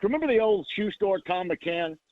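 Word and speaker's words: Thom McCann: I should also mention and sh this sounds like remember the old shoe store Tom McCann. It was spelled with an H t h o m.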